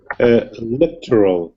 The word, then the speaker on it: electoral: You should say what second syllable stress, Christian? Electoral.